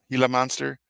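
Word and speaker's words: Gila monster: if it was like a gill monster or Hilla monster how do you say it hila monster that would have been scary too because they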